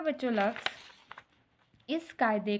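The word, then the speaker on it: قاعدے: ठीक है, काफ ज़बर है, उसके साथ अलिफ है, आइन है, दाल और बड़ी ये। ठीक है, अब इनको मिलाते हैं बच्चों हम, तो काफ ज़बर अलिफ का, आइन दाल बड़ी ये दे, कायदे।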